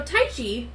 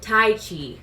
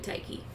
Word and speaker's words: Tyche: k h e but it's pronounced tai chi like the martial arts which i found so